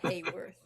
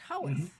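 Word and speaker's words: Haworth: the Bronte home, and I'm saying Hayworth, and it's not Hayworth, it's Mhm. Howarth or How even. Some of them pronounce it like Howarth, and some pronounce it Howarth, and I'm Mhm.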